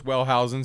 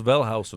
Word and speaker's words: Wellhausen: So 1878, a guy, I'm going to say his name wrong. Julius Wellen, say it right for us, Dave. Julius Welshausen.